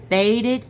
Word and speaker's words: bade: And bade me prayer for you. I'm going to spell that for you. B-A-D-E. It's called bad.